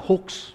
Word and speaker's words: hoax: Bacanya jangan hoak hoak hoak seperti itu saudara ya. Bacanya hoa nah kalau dalam eh Miriam Webster dictionary hoa itu apa sih?